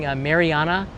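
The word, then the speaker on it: Mariana: The only thing I got wrong and it was pronouncing Marana, the northern Marana Islands instead of I said Marina.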